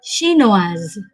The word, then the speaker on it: chinoise: Contoh, Jack Ma est chinois, Anne est chinoise. Terdengar jelas pengucapan dari chinois dan chinoise cukup berbeda.